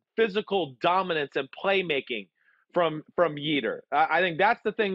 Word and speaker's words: Yetur: Yetur rhymes with Jeter.